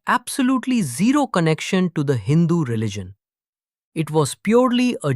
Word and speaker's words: Hindu: But in the Persian language, they pronounced it slightly differently. They called the region Hind, Hindu, or Hindu.